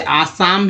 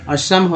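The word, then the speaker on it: Assam: लोग इसे आसाम भी बोलते हैं, असम भी बोलते हैं, लेकिन शुद्ध उच्चारण असम है, इस तरह से लिखा था असम।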